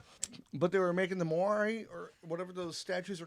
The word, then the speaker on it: Moai: But they were making the Moai, or whatever those statues are called. If I pronounce that wrong, please forgive me, guys. But what happened is The Moai. the Moai.